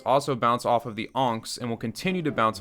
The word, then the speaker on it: Ankh: I'm not saying unks, by the way, like someone's uncle. I swear that's how you pronounce it. That's how they say it in game. I'm gonna have to find a clip. An Ankh? Hey, that's my trick. I was wrong.